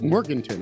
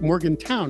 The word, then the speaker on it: Morganton: County seat, Morganton. I called it Morgantown because that's how it's spelled, but I now know the proper pronunciation.